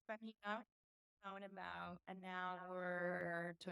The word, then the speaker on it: Zipaquirá: Zipacaria? I'm pronouncing it wrong. Um, good try. Okay. It's Paquita out about an hour to an hour and a half.